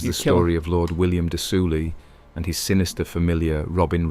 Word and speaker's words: de Soulis: Of Redcaps, one of the most infamous is the story of Lord William de Soulis and his sinister familiar. There you go, de Soulis. The S is silent.